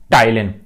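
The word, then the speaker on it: ptyalin: देखें आप, P silent होता है, पटाइलिन नहीं पढ़ते भाई इसको, एमाइलेज या टाइलिन।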